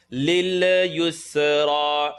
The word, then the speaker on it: لِلْيُسْرَى: What could happen here, and I want you to watch this, the lil sound. Lil yusra. Lil. Don't bounce the sound. Yus. Don't bounce the seam. Yus. If the sound bounces, then you're going to be doing qalqala on a letter that doesn't need to bounce.